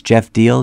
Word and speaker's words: Geoff Diehl: I've got a website my name is spelled a little bit differently it's Jeff deal GE FF d i HL so just put www.